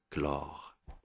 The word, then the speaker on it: chlore: cas particulier bien sûr parce qu'on prononce pas la lettre H on dit chlore donc ici comme remarque